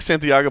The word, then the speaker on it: Santiago: You can say it like Santiago Ponzinibbio.